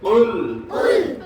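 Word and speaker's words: قُل: তাড়াতাড়ি জোরে জোরে পড়ো কুল কুল এটা যদি দেখতেছি অলস আছে গতন নড়তিছে না জিহ্বা টিব্বা ভালো করে নড়ে না ঠোঁট নড়ে না কুল কুল কুল কুল এটা হলো কফ তাই না আরেকটা আছে কি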